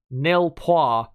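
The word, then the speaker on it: nul points: nowhere after that so nilpoi it is for this grand prix and the reason i say it like that neil paul because obviously the main rival was a french the alpine team and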